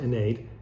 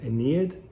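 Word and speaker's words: Aeneid: an english context because i know that in latin it's pronounced nade but probably in the english speaking world it might come through as aneed and so apologies if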